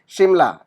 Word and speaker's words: शिमला: अब शिमला के अंदर शिमला ऐसे नहीं लिखते हैं, क्यों? क्योंकि हमारा जो उच्चारण जो होता है वो उस आधा म का ही होता है, इसकी वजह से, ओके।